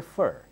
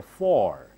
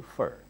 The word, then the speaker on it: for: a gift for you how did I say fur I do not say for when you do not stress this can change to fur I'm making a gift